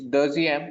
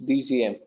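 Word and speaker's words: dixième: It's Dixiem. It's Dixiem and not IEUM. You're literally going with the pronunciation. Okay. Can you correct that? I'll correct it for you. It's DCM.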